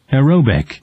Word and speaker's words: aerobic: 그러니까 지금 TION, SION, ITY 그 다음에 뭐 이것처럼 IC 이런 걸로 끝나는 말들은 강세를 바로 앞에 줍니다. 그래서 에어로빅, 이어로빅 해도 돼요. 그래서 에어로빅이 아니라 에어로빅, 에어로빅. 한 번 더 들어볼까요? 에어로빅. aerobic, 그렇죠.